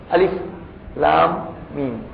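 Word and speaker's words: الم: আলিফ লাম মিম। আলিফের উচ্চারণ তাড়াতাড়ি।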